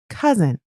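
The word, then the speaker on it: cozen: round six yeah cousin now this time I'll spell it for you c o z as in Zephyr e n is in Nancy cousin the quote this is practice Glouchester by the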